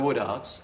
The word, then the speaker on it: Woodards: by a bumblebee they they are the Woodards have I pronounced that correctly yes the Woodards and who are you